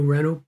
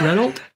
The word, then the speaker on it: Renault: watching this thing live why can our August politicians not pronounce Renault Renault properly why did every single one import Reynold I was driving any rentals are you sort of pronounced it exactly and I was saying oh Jesus Christ it's a French word one of our closest